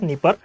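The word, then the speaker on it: Dnieper: असल में ये डी साइलेंट है। इसको नीस्टर, नीपर और डॉन कहा जाता है।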